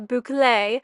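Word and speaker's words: bouclé: that corner the burgundy one that is a boule Fabric and yes I had to uh Google the pronunciation of bouay and it's actually a trending fabric right now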